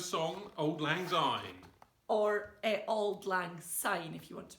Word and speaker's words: Auld Lang Syne: Or Auld Lang Syne, if you want to pronounce it properly.